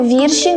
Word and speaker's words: вірші: набо льчидуть ненаписані вірші слово вірші має наголос на перший склад бо утворений від слова вірш Ми шукаємо любов на